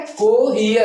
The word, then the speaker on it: cohere: COHERE, इसको क्या पढ़ेंगे, पहले ई का आवाज निकालिएगा फिर आ का, कोहियर, ठीक है, कोहियर, पहले ई का फिर आ का आवाज निकालेंगे।